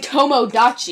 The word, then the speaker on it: Tomodachi: No, it's Tamagotchi and Tomodachi. Oh, that's probably where I get mixed up. Yeah. Tamagotchi. I learned that recently because it's Tomo. Tama goes with the gotchis.